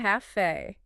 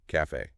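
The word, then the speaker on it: café: word we mentioned earlier Cafe Cafe it's a perfect example of an exception that proves the rule so the stress is on Fe yes making it an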